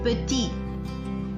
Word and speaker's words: petit: So that is why in the masculine singular form we will not pronounce the consonant T at the end. It will remain silent.